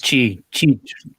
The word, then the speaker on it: Qi: Qi. It's QI, but it's Qi because it's like the Qi from Taoism, I believe, something like that. I got you. I always call it QI, but this would be a charger with a charging coil.